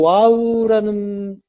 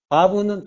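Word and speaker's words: ו: 그리고 와우라는 이 글자가 와우라고도 읽고 바브라고도 읽는데 이거는 이제 와우라고 읽는 건 영어식 표현이에요. 영어식으로 할 때 와우라고 하고 바브는 독일식이에요. 신학이 독일 쪽이 강하죠. 그래서 바브라고 읽는 경우가 많아요. 그러니까 독일은 W 발음을 V 소리로 내잖아요.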